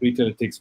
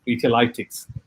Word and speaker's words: Retailetics: But we played around with the spelling, because if we had used Lytics, a lot of people would have pronounced it as Retailitics, right? And we didn't think that was good.